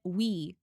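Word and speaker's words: oui: Okay, I remember west and east because if you put these together, you get we. And if you know French, that's pronounced we and that means yes.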